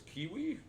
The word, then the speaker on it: Kiwi: But the one that stuck out for me was Kiwi, spelled like key, door key, and then we as in us, right?